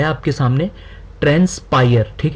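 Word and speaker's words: transpire: अभी है आपके सामने ट्रांस्पायर ठीक है ट्रांस्पायर्ड इसका पार्ट ऑफ स्पीच जो है वह वर्ब है इसको हम रीड कैसे करेंगे प्रोनाउंस कैसे करेंगे ट्रेंस पायर इसका मीनिंग क्या है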